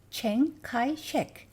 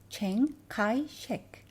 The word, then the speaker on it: Chiang Kai-shek: 그 다음 장제스는 영어로 장제스라고 하지 않고 Chiang Kai-shek, 광둥어 발음이라고 해요. Chiang Kai-shek.